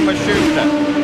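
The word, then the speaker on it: Matsushita: work by the way the pronunciation on mhusa that is now how his team says they'd like it used here's Tracy just alongside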